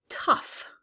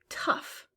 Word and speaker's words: tough: Tough. Tough. Again, that GH is making the F sound.